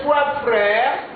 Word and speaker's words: trois: Son père, ses trois frères. Ici on dit trois, pas trois. La lettre S ne se prononce jamais.